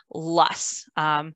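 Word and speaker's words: loess: windblown silt from glaciers is called Luss rhymes with busts but it's spelled l-o-e-s-s um and much of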